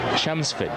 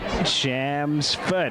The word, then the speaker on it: Chelmsford: of the town's name it's chelmsford the l is silent say foot shams foot i got that thank